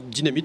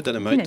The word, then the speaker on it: Dynamite: Alors, Dynamite en français, Dynamite en anglais, c'est bien.